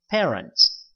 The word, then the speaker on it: parents: 부모님은 바음 해보세요 par parents parents parents 자 per 이게 아니고요 paren par 이렇게 발음을 하시고요 자 그러면 여기 What